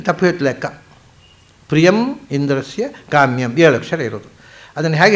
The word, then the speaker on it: ಕಾಮ್ಯಂ: ಸದಸಸ್ಪತಿಮದ್ಭುತಂ ಪ್ರಿಯಮಿಂದ್ರಸ್ಯ ಕಾಮ್ಯಂ ಸನಿಮ್ಮೇಧಾಮಯೋ ಶಿಷಂ. ಮುಗಿತಿದು ಗಾಯತ್ರಿ. ಮೊದಲನೇದು ಎಂಟಕ್ಷರ, ಸದಸಸ್ಪತಿ ಮದ್ಭುತಂ ಎಂಟಕ್ಷರ ಒಂದು ಪಾದ, ಎಂಟಕ್ಷರದ ಮೂರು ಪಾದ. ಆಮೇಲೆ ಪ್ರಿಯಮಿಂದ್ರಸ್ಯ ಕಾಮ್ಯಂ, ಇಲ್ಲಿ ತಪ್ಪು ಹೇಳ್ತು ಲೆಕ್ಕ. ಪ್ರಿಯಂ ಇಂದ್ರಸ್ಯ ಕಾಮ್ಯಂ ಏಳು ಅಕ್ಷರ ಇರೋದು.